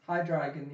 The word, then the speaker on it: Hydreigon: I can't even pronounce that. Can't read it from here. Hydreigon? Hydreigon, yeah.